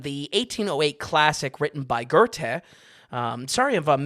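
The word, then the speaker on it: Goethe: 1808 classic written by gerte um sorry of I'm mispronouncing that the internet tells me g e uh I'm sorry the internet tells me that g o e t h e is pronounced gerte so uh [ __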